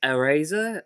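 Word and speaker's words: Airazor: we've also got uh eraser i believe it's how it's pronounced a i r a z-o-r so it's eraser i don't know but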